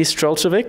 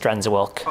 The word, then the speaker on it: Strenczewilk: It's just Strenczewilk. Okay. It's very Americanized, very, very Americanized.